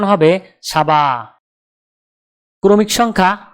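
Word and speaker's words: سبعة: আরবি ক্রমিক সংখ্যা 7 দেখতে এরকম, উচ্চারণ হবে সাবা। তাহলে 7 ক্রমিক সংখ্যাটির আরবি উচ্চারণ হবে সাবা।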